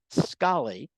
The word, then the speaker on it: Scollay: um Mina don't fret I had trouble figuring out with my latent New York Queen's accent how to pronounce it it is the Scottish Scali and there was at